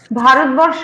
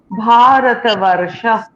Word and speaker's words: ভারতবর্ষ: What a এখানে দীর্ঘ হলো কেন বলতো? রেফ আছে, কারণ তারপরে একটা যুক্ত বর্ণ রয়েছে, র এবং মূর্ধন্য স এর একটা যুক্ত বর্ণ রয়েছে, তাই তার আগের বর্ণটি, সেটা হচ্ছে ওয়া, সেটা দীর্ঘ উচ্চারণ হলো।